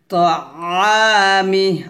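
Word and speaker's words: طعامه: ফালয়ানজুরিল ইনসানু ইলা তাআমিহি, তাআমিহি আইনটা চাপ দিয়ে বলতে হবে, তোয়া এটা হবে না, তাআ এভাবে।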